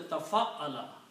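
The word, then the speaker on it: تفعّل: So the word, we are creating a word by adding a ta in the beginning and putting a shadda on the middle letter, which is ayn. So this will be pronounced as tafa'ala.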